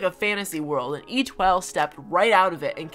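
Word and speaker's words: Étoile: hard to pronounce and it's pronounced e12 even the name just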